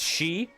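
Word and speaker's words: Sidhe: And the She were spelled like S-I-D-H-E.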